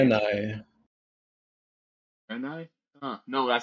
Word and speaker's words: Draenei: No, it emphasizes the middle part a bit more. So dry. Oh, no. Dry. It's so hard to remember how to say it. Draenei.